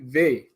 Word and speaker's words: Vai: We all say Vi, but it should be Ve.